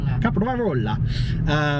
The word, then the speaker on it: Caprarola: Caprarola. Where we're staying there. Have to roll the R. Got to roll that R. We just can't. It's really hard to roll an R after saying a P. Caprarola.